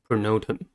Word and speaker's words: pronotum: the next word is pronotum the neutron has three syllables and stresses as a second one the first syllable is